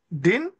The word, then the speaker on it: Din: Et pour nos confrères qui sont ici avec nous, j'ai parlé de l'architecte Édouard, comme Édouard en français, Din, s'écrit D-I-N.